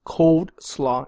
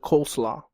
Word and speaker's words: coleslaw: Okay, so reason number 1: she pronounced it cold slaw instead of coleslaw.